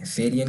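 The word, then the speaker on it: Ferien: और फेरियन इसको हम ए को हमने प्रोनाउंस किया, यहाँ पर ये वाला ए है एफ़ के बाद, उसकी भी प्रोनाउंसिएशन आप हमने वाज़े रखनी है फेरियन, ठीक है, फेरियन।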